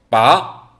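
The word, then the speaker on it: 拔: 이대로 발음을 해주면 되는데 바로 음처럼 끝을 올려서 발음하시면 됩니다 빠 이런 식으로 얘기하시면 되겠죠 빼다 뜻입니다 자 삼성에 보시면은 삼성은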